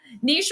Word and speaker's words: niche: Niche rhymes with quiche.